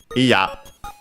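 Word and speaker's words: いや: we have the adjective iya. Iya, we check the accent. Should be, as I said, on the last syllable.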